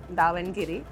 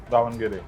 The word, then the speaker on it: Davangere: I hope I'm pronouncing that right. Davangere. Davangere.